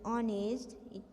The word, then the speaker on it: honest: a n n because here h is the silence so it's sound it begins with a vowel sound honest o and est honest because of that i